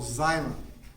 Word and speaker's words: xylem: are what we call xylem x y el eam and the X is pronounced like with the Z sound like a silo phone